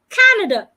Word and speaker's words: Canada: volunteer for the event Canada Canada I'm stressing the first part not Canada Society Society